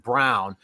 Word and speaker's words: Braun: And Christian, it's spelled Braun, but I believe it's pronounced Brown.